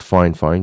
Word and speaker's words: Fifine: And it is pronounced Fifine, just so that you know.